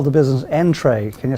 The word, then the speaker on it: nTrai: And you call the business Entray. Can you spell that, please?